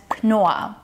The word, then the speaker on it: Knorr: Knorr is pronounced with the hard K sound, followed by a long O sound and two R sounds, which are actually silent Rs.